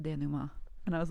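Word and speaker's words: dénouement: She's like, "It's pronounced denouement," and I was like, "Oh, thank you, and please forgive me for being so dumb."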